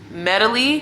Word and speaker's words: Medely: Next on the list, I have Primetime Healthcare, MAS, Medical Staffing, Focus Staff, Medley, which is spelled MEDELY, Snap Nurse, Staff DNA, Next Staff, NEXTAFF.